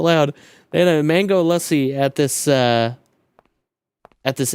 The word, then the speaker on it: lassi: Lassi. It's lassi or I think they pronounce it lussi.